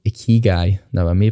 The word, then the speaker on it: Ikigai: Another one I love is called Ikigai. Now, I may pronounce that wrong, but essentially it is a Japanese word that means something along the lines of purpose.